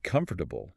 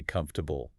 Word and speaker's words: comfortable: But if you say comfortable, you sound very rigid. A little bit like a GPS navigation voice. Right. Turn left in 200 feet. Exactly. Native speakers, we just swallow the syllables. We mash it all together. We say comfortable. Comfortable. It's almost like it tumbles out. Yeah, 3 syllables barely. Comfortable. The or sound almost completely disappears.